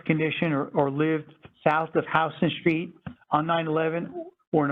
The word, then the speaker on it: Houston: So like if you were a victim and lived, you know, just like I said, south of Houston Street, it's spelled Houston, but we say Houston Street, you're eligible.